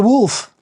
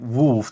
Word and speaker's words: Wolf: a little bit to like wolf just wol because D is like you know it's yeah they can't handle it so I'm like Okay wolf and then still it's like you know the pronunciation is different so I'm like oh just like the animal and they're like oh